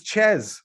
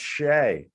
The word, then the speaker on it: Shea: my gosh really but this looks like it says chess and they're like nope it's pronounced shay well you did the